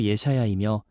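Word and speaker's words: ישעיהו: 이사야라는 제목의 원어 의미는 히브리어 발음으로 예샤야이며, 그 뜻은 여호와는 구원이시다입니다.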